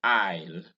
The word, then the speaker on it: isle: occurs in ireland in isle notice that the s in ireland and in isle is silent and you have it